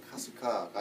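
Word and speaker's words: 春日: 춘은 하루, 일은 희입니다. 일본어로. 춘리라고 읽든지 아니면은 하루희라고 읽어야 될 텐데 이상하게도 카스카라고 읽고 있습니다.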